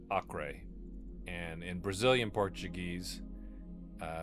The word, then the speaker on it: Acre: I do believe it's actually pronounced array or AI.